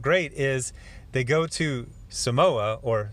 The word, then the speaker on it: Samoa: and I felt great is they go to Samoa or Sam oh uh as they pronounce it here and you get to meet